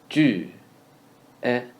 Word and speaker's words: 绝: 绝 is ju sound followed by e sound in the second tone. Ju, e, jue, jue.